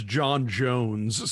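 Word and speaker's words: J'onn J'onzz: His real name is John Jones. So, right, but it's spelled like J apostrophe O N J apostrophe O N Z Z.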